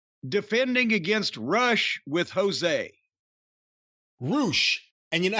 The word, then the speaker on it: Rush: I heard on TV, his theme song seems to be Roosh, Roosh, Roosh. So they just say his name over and over again. It's Roosh. Well, I was rushing to get through this.